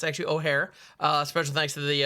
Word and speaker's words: Ojer: it's pron the the the J uh is actually pronounced like an H in O'Hare uh so it's O'Hare oxil um I'm sure